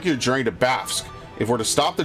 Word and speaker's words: Bafsk: Bafsk, right? Baf and Sk. Bafsk. Weird name.